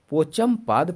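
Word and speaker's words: पोचमपद: में ठीक है दोस्तों मैं उच्चारण पहले थोड़ा गलत कर दिया इसके लिए क्षमा चाहता हूं आपसे इसका सही उच्चारण है पाॅचंपद परियोजना ठीक है जो कौन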